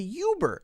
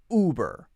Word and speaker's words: Uber: it you burr no Americans will say this one as uber uber now that is a weird sound and might not sound like native English right because we don't have a lot of things which start with Oh like that in English not as many as for example you write but here we say ooh BRR ooh BRR ooh BRR notice that hard sound it's not a year you ooh harder sound uber uber okay next one